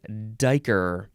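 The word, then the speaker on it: duiker: DUI duh next is Dyker d-u-i spelled spelled different than what you might think d-u-i-k-e-r noun from 1777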